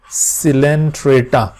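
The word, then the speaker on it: Coelenterata: This is also known as, यहाँ पे भी ओ साइलेंट है, सिलेंट्रेटा।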